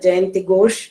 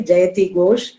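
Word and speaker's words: Jayati Ghosh: interviews that were had dr jayanthi gosh has given this and also i didn't pronounce it correctly jayathi gosh yeah she has been kind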